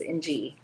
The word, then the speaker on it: Ng: It's by Stacey Williams Ng, and that's literally how it's pronounced, Ng. Ng.